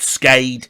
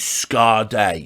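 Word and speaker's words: Skade: It definitely is Scade. I've double-checked. It's a Norwegian organisation. That's how they say it. It's not Scade. It's not Scade. It is Scade. A bit like, you know, that female singer from the 90s, Sade, but her name was spelt Sade.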